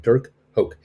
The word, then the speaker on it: Hoke: uh i think the last name is called pronounced hulk h-o-k-e dirk hoke he joins the directors of spire and he